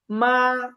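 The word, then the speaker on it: 吗: শব্দ আসি মা এটা এইযে নিউট্রাল টোনে আছে আমরা শিখছিলাম না যে মেন একটা টোন ছাড়া একটা কোণ আছে সেটা হচ্ছে নিউট্রাল টোন এর উপরে কোন টোন নাই তার মানে এটা নিউট্রাল টোন এটা উচ্চারণ স্বাভাবিক হবে মা মা হ্যা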